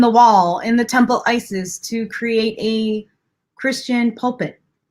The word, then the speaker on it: Isis: Oset is her original pronunciation of her name.